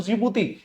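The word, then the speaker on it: Djibouti: इसमें उत्तरी पूर्वी अफ्रीका में बात करें तो जिबूती स्पेलिंग डी से शुरू होती है। डी साइलेंट है।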